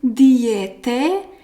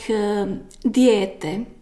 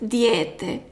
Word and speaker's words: dijete: speakers pronounce it like dijete. So like d, j, e. So it's a long accent, dijete. So you don't have to highlight e like dijete, but only make this accent long.